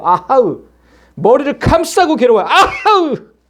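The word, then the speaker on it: אֲהָהּ: 히브리어 단어 그대로 발음하면 아하으예요. 아하으.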